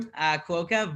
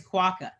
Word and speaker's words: Quokka: We call it Quokka Brew, Quokka, but the actual right pronunciation in Australia is Quokka.